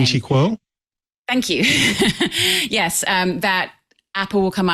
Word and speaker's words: Ming-Chi Kuo: the noted analyst, trying to remember how to pronounce his name. Is it Ming-Chi Kuo?